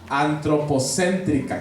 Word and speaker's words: antropocéntrica: Antropocéntrica. ¿Qué quiere decir esto? Que el ser humano es el centro. ¿Sí? Y antropocéntrica. Es una sola palabra. Antropocéntrica, acento en la E.